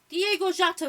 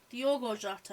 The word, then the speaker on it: Diogo Jota: Diego Jota with the goal. Diogo Jota, I think is how you say it. I said Diego.